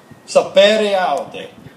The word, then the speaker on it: Sapere Aude: This is the correct pronunciation because I will butcher it. What happened? Sapere Aude.